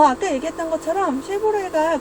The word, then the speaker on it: 쉐보레: 같아요 쉐보레는 자동차 브랜드고 여러분들이 지금 쉐보레 라고 읽었다면 브랜드 명을 잘 알고 있는 거고요 이것을 저희는 말로 표현될